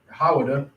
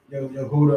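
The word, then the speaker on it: יהודה: Right, which how you pronounce it in Hebrew would be Hawada, not Yehuda or whatever everybody else be saying.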